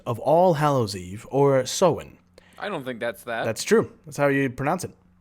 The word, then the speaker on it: Samhain: Halloween, the modern-day descendant of All Hallows Eve, or Samhain. I don't think that's that. That's true. That's how you pronounce it. That's pronounced Sam Hain. Nope. Look it up. It's Celtic.